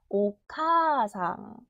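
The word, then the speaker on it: おかあさん: 다섯 박이 총 박자가 거기서 아 소리가 날아가고 카가 두 박이 되는 거예요 오카상 오카상 응의 응은 받침이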